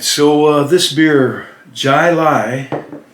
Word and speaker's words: Jai Alai: so uh this beer jai lai that's how it's pronounced and i've looked it up it's pronounced jilai actually that's what i get